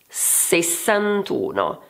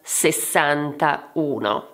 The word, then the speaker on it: sessantuno: The vowel of the ten disappears, this is because two vowels cannot stay together. This means that every time that you will have to put together the ten and the unit, you will have to remember this and therefore you will have to be careful with the numbers ending in 1 and 8. Let's take an example. How do you read this number? Sessantuno, not sessantauno*.